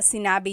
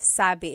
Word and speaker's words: sinabi: just a note about sinabi you might hear someone say sa sa technically the past tense conjugation of sabi is sinabi but people shortcut it and say Sab so if you hear